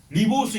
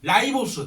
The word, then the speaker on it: 라이보스: 리 아 그 뭐야 리보스 있지? 리보 아니 라이보스 들어봤지 라이보스가 원래 그전에 리보스 이름 불렀어.